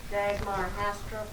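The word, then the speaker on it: Dagmar Hastrup: Connie Hilker, I might need some help pronouncing this. Dagmar? Draw dog. Is that for Dagmar Hastra. That's it. Say it again. Dagmar Hastra.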